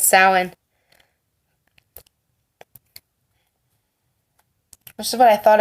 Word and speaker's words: Samhain: I did look up how to pronounce this correctly. It is Samhain.